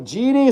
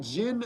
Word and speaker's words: Jyn: Ghost Rider says Jyn is known as Genie. Jyn. Oh, Genie. So not Jyn, it's Genie. It's Genie, not Jin.